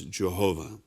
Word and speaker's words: Jehovah: And this hebrew name is commonly pronounced in English as Jehovah.